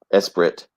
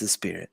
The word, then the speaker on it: Esprit: the 1981 Lotus espir Esprit S3 it's a spirit but is it Spirit yeah it's a Lotus dude well some it's spelled es P r t it's a spirit yeah um that's what